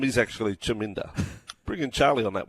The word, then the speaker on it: Chaminda: I'm backing him to jam it up the critic Shaminda. Paulie from West Wallsend. Chaminda Voss. He says Shaminda. The name is actually Chaminda. Bring in Charlie on that one. Chaminda Voss. Just confirmation. It is Chaminda.